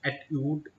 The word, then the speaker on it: एट्यूड: है और इसको लोग बोलते हैं एट्यूड मशीन, जो भी प्रोनाउंसिएशन आई थिंक एट्यूड जो करेक्ट है।